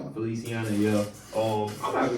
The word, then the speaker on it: Feliciana: Uh so now after that one, we got Ash versus West how you pronounce that. Felicia Feliciano. Feliciana.